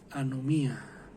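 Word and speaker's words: ἀνομία: o trasgrede la ley en griego se pronuncia a no mía no me ha viene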